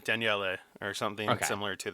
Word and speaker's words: Daniele: I was like, is it Danielle, and it's Daniele or something Okay.